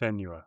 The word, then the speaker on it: Senua: Uh SA Senua, I don't know how you pronounce it. Senua.